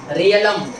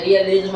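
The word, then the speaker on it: realm: दो चार पॉइंट और है, रियलिज्म और चीज़ें ऐसी है, रियलम आपने बहुत सुना होगा कॉमनवेल्थ नेशन के बारे में, रियलिज्म ऐसे करके बोल देते हैं, तो ये गलत प्रोनाउंसिएशन है।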